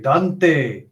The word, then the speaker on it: Dante: C'était tout pour pour David M avec Dante je prononce à l'anglaise parce que Dante en français c'est dégueulasse.